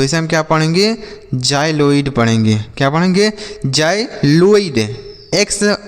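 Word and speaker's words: xyloid: जाइलोइड पढ़ेंगे।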